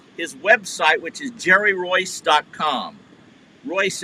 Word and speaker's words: Reuss: Royce, as you saw on the clip, is spelled Reuss.